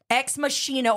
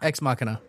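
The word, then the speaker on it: Ex Machina: heard it both ways exmachina or exmachina X makina yeah I've heard it I think that's the German no that's Latin is it Latin Latin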